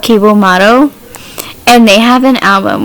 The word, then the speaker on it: Cibo Matto: I think it's called Ciba Matto. And they have an album. Which album do I like? So it's spelled Cibo Matto.